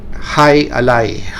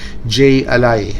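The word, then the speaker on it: jai alai: It's going to be this sport, High Ally, or a lot of actually people would pronounce this J Ally, but for easy pronunciation, it's going to be pronounced this way, High Ally.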